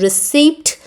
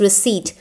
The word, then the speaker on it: receipt: If I tell them better pronunciation, like she was saying the word as receipt, so I told her that sound of P is not there and it is receipt.